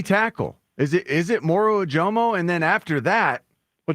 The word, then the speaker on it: Moro Ojomo: You're making me second guess myself, but yeah, it's Moro Ojomo.